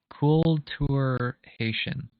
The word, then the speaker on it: Kultur Haitian: It's pronounced like Kultur Haitian. That's good to know. Kultur Haitian. Haitian. I was kind of close. Yeah. I think the Haitian part I got wrong.